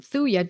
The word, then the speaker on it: Thuja: I would use the second one, Thuya, just because the event is about to occur, has occurred today, and has occurred over the last occurred several days ago.